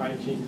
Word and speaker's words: I Ching: And that's what gave rise to this classic, now it's known as classic of change in I Ching, is often pronounced in English, or I Ching, some people say, which is translated as a classic of change.